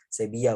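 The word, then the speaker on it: Sevilla: ya kalau di sana V dibacanya B double l jadi ya tasdid ya saybiyah bacanya Nah di situ ada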